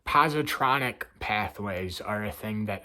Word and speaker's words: positronic: The surgeon hesitated a moment, as though the question fitted nowhere in his allotted postronic pathways. So I pronounced it wrong. Positronic pathways are a thing